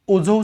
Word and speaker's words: Azov: आणि त्या ब्लॅक सीच्या म्हणजे क्रिमियाच्या साऊथला, दक्षिणेला ब्लॅक सी आहे आणि उत्तरेला, उत्तर पूर्वेला जो आहे तो ओझोव सीचा एरिया आहे, अझोव सी ज्याला आपण म्हणतो, तो अझोव सीचा एरिया जो आहे तो सुद्धा आपण बघून ठेवायला पाहिजे.